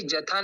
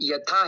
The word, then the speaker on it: यथा: पुन राना था भागवता ये माता जी जथा नहीं है यथा है था भागव स्थिता था यथा ज नहीं य य ई हा जी हा